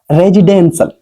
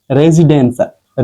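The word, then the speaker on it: residential: देखे नहीं है तो उसकी वजह से इसका उच्चारण करना में गलती होती है सभी से हो जाती है ठीक है तो रेजिडेंशियल रेजिडेंशियल रेजिडेंशियल इसका हो जाता है आवासीय रेजिडेंशियल ठीक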